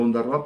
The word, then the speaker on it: Ondarroa: Ítem de Ondarroa, la 10ª parte, digo Ondarroa porque así está pronunciado, o sea, puesto el tilde, ítem de Marquina, la 10ª parte de los hombres.